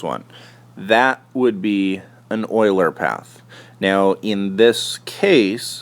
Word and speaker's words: Euler: hamiltonian path now a Oiler path and I know it looks like uler but it actually is pronounced Oiler like o i l e r uh an Oiler path